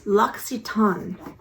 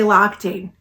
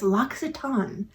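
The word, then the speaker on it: L'Occitane: up on their website it's laxitan it's actually a french company uh some people i used to say lochte when i have no clue and then i bought it and i said i better look this up and how to say it correctly it's locks it as the proper way to say it it's from france and they also have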